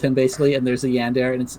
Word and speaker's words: yandere: a what what is there yeah daddy a yandere a yandere yeah okay a yandere crazy lady yeah i know what how do you say that yandere okay whatever no it's a yandere i got you i got you i'm i'm